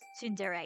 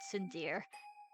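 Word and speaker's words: tsundere: Tund No, Tindere is is is is Tundere. It's not Sundere.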